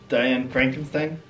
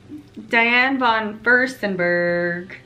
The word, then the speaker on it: Diane von Furstenberg: Is that Diane Frankenstein? What is it, babe? Diane. Not Frankenstein? How do you say it? Feinsberg. Von Feins. I think you know better. Diane von Furstenberg.